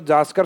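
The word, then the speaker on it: ज़ांस्कर: इसमें मिलने वाली जो जास्कर से निकलकर प्रमुख आती है नदी जास्कर, जास्कर श्रेणी से निकलने वाली, हालांकि इसको जास्कर कहा जाता है। यानी नए की बिंदी को प्रोनाउंसिएशन में लिया जाता है जांस्कर, तो बोलने में जास्कर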